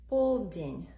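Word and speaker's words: полдень: day or night so for noon paulding this stresses on the first syllable and for midnight pull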